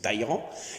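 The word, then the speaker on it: Talleyrand: Ces deux autres personnages, c'est et bien pour la personne intelligente et roublarde, c'est le fameux Tairan, prince de Talan si vous préférez, mais il paraît qu'il faut prononcer Taïran.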